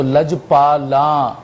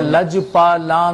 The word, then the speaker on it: لج پالاں: نہیں پڑھا۔ ایک تو لج پالا، ایک مستقل آپ نے یہ تلفظ بگاڑا ہے، پالا نون گننا ہے آخر میں، آپ پالا پڑھتے رہے، اب لج پالا نہیں،